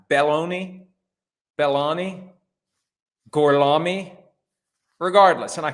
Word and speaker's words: Belloni: I'm always sensitive to the proper pronunciation of Italian names because mine gets butchered from time to time, but it's Belloni, Belloni, Gorlami, regardless.